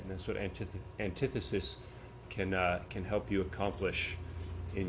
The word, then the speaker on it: antithesis: Some people might pronounce it antithesis, but it is pronounced antithesis.